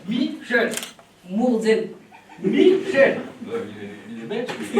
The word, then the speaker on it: Michel: Alors, en deux syllabes. Michel.